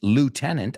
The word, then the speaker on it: lieutenant: But if you say it, lieutenant, aunque se escribe le, it's pronounced lieutenant.